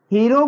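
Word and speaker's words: hero: हीरो को हमने हिंदी में लिखा हीरो, हीरो का उच्चारण जो हीरो होगा, तो हिंदी में यच का उच्चारण हो रहा है, और जब हिंदी में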